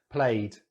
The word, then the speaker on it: played: So, the odd one out is going to be played, and it's just because it has the D sound.